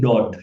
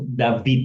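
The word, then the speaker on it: דוד: Ada orang membaca ini dod juga ya. Tapi lebih bagus dibaca dibaca dia lebih bagus David ya.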